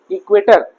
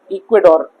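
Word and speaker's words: Ecuador: इट इज the country which is name after इक्वेटर। समझ में आ गया? इक्वेटोर। हां। ठीक है? इट इज a country which is name after इक्वेटर। तो इक्वेटोर वहां पर टी को डी प्रोनाउंस किया जाता है।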